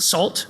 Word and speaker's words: NaCl: There is a library that's spelled NaCl by Dan Bernstein. He pronounces it SALT, which is a little irritating.